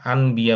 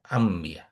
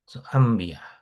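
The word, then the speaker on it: أنبياء: এরকম যে এই নুনের পরে যেহেতু বা আসছে, এই জন্য এটা নুন সাধারণত উচ্চারণ করতে আরবদের কষ্ট হয়, আনবিয়া বলতে কষ্ট হয়, এই জন্য এটা বলে আম্বিয়া। এটা মিম উচ্চারণ, আম্বিয়া।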